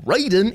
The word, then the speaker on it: Raiden: Number 3, Raiden, or Raiden if you want to pronounce it like that, for the Atari Lynx.